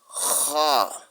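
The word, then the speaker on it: خ: C'est tout comme vous voulez prononcer ha, mais vous allez racler la gorge. Ici, kha, kha. Vous allez racler la gorge pour dire kha, kha.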